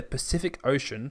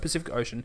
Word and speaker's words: Pacific Ocean: each C is so the first C is pronounced with an S sound the second sounds like a CK and the third one is with the sh ocean English is dumb